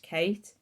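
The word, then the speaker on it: Cait: floss tube um so her name's cross stitch Kate it's spelled c-a-i-t so I'll link her in the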